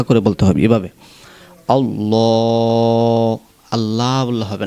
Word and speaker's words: আল্লাহ: লাম কারা জবর লা আল্লাহ শব্দটি কিন্তু মোটা করতে হবে আল্লাহ শব্দের লামের পূর্বে যদি জবর অথবা পেশ হয় তাহলে ওই লামকে মোটা করতে হয় অতএব আল্লাহ শব্দের লামটাকে মোটা করে বলতে হবে এভাবে